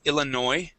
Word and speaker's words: Illinois: Um, it is Illinois. Okay. That s at the end is uh is silent.